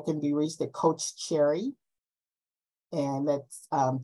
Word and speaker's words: Cherri: be reached to coach cherry and that's um Cherry is pronounced like the fruit but uh is c-h-e-r-r-i